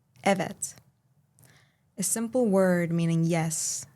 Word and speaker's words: evet: A friend once told me I am not truly Turkish because I do not pronounce eets with the right vowel. I use a instead of e.